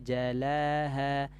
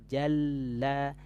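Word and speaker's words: جَلَّاهَا: Nah, di sini lamnya ada tasdid ya. Nah, ini tasdid ini harus ditekan sedikit suaranya. Jangan sampai kita membacanya wan nahari idza jalaha. Enggak boleh. Ya, ditekan sedikit suaranya. Jalla. Nah, kenapa harus seperti itu?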